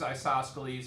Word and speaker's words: isosceles: The other one includes isosceles as part of equilateral, so that isosceles triangles